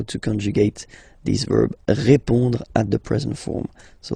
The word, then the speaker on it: répond: So final D is not pronounced. You will only have this on nasal sound at the end.